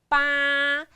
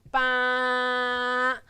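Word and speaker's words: 八: So, eight, we pronounce bā. Remember the flat tone, bā.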